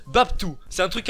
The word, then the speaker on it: BapTo: B-A-P-T-O, ça se prononce Babtou.